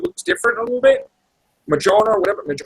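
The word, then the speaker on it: Mjölnir: Majorna, or whatever. How do you say it, Chris? Majorna, Manura, whatever. Mjolnir. That's how I say it, Mjolnir.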